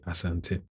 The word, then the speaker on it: Asante: Because I know people who don't really exactly stick to the Ghanaian pronunciation when they do have an evidently Ghanaian sounding name. So I say Asante, Asante Hine, or yeah, yeah.